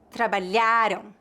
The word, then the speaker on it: trabalharam: No entanto, a sílaba tônica de palavras com ditongo ão geralmente é a última, palavras oxítonas, enquanto a sílaba tônica de palavras terminadas em AM é a penúltima, palavras paroxítonas.